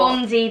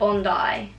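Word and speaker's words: Bondi: we've spoken so what tell everyone what you thought it was before fondy Beach Bundy but I know it's not what is it on die yeah got my little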